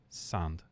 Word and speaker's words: Sand: Sand.